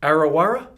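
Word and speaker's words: Arrawarra: So is it Arawara? So A-R-R-A-W-A-R-R-A. We'll test it. Can you spell it backwards?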